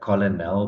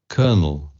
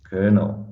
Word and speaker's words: colonel: the shop, to the KFC and order a Colonel burger.